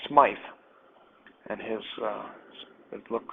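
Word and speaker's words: Smyth: on classical garans like SMI and his uh look it's it's actually Smith spelled with a Y um and it's not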